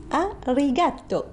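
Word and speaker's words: ありがとう: Je vous en prie, et je vous dis à vous tous qui êtes présents sur ce plateau, arigato. Arigato, je le prononce à l'italienne.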